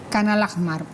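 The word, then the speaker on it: Khan al-Ahmar: esta aldea o este pueblo canal mar se pronuncia es correr en el amor ajmal khan al ahmar que implica y porque justamente pasa a ser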